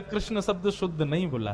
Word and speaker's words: कृष्ण: अब जब परिवर्तन में जय श्री कृष्ण मिलता है तो पता चल जाती है कृष्ण शब्द शुद्ध नहीं बोला है।